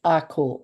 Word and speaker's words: ako: There's this beautiful Maori word in New Zealand that is pronounced ako, but it's AKO, and it's the teacher is teaching students, but the students are teaching teachers.